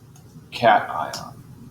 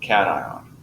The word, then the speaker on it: cation: for any positive ion, the pronunciation here is cation. So we're talking about ions. It is cation.